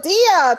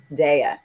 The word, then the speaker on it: Dia: on all right so my first name actually is pronounced de de so let me tell